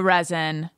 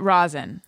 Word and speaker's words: rosin: loved the resin or is it rosin resin resin but i think it's spelled like rosin right whatever oh it is rosin it's rosin but it's felt like resin talking about weed it's rosin it's rosin it's fully rosin not even sound like resin it's rosin